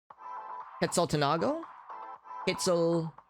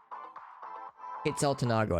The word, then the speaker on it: Quetzaltenango: How would I pronounce that? Quetzaltenango? Quetzaltenango, I think is how you pronounce it.